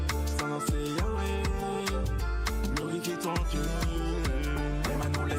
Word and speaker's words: Yahweh: Le titre Yahweh, je sais que on prononce Yahvé dans certains endroits, c'est exactement la même chose.